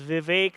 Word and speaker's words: Vivek: I know a lot of people sometimes have a problem pronouncing it, so it's pronounced as Vivek like in cake.